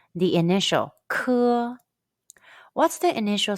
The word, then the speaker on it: 科: When you see the English letter K in Pinyin, the pronunciation is 科. It's like the K in the English word kid, but push stronger air out from the very back of your tongue and your throat when you say it.